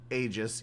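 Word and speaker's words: Aegis: be you play as AIS pronounced AIS even though I thought you pronounced the AE like e but maybe that's a French pronunciation AIS is Marie anet's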